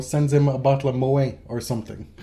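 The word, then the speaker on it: Moët: him a bottle of Mo or something Moet why why why is it pronounced that because it's dutch it's not French oh I found that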